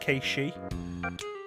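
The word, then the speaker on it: Cait Sith: Give me a name for Kate Sith. I know it's supposed to be pronounced Kei-Shi, but nobody ever calls him that.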